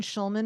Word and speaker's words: Schulman: And Schulman is spelled like school, SCHULMANART.